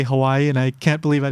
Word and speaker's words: Hawaii: Basically, like you hear in uh-oh, that little stop in the middle, so you would say Hawaii, and the W is pronounced like a V.